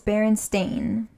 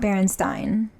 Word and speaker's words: Berenstain: It's Berenstain, not Berenstein. Berenstain. Berenstain, Stain. Berenstain Even the Bears.